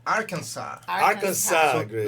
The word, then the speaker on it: Arkansas: No S. Arkansas.